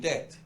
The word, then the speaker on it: debt: world are now in debt, in lots of debt. Is there a silent letter? There's a B. Yeah. Nobody says it, but there is a B.